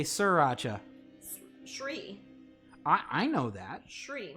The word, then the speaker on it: Sri: Shri, not Sri.